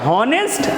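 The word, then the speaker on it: honest: पे अगला ये हमारा हा ओ एन ए एस टी अब इसको क्या पढ़ने है ऑनेस्ट ना-नाना ये यहां पे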